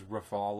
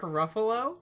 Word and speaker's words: Ruffalo: the woman's I me I thought his name was rafal Oh roflol oh yeah say his name is Mark Ruffalo yeah I thought it was marked with swallow I went to a kid it's spelled very weird I went to a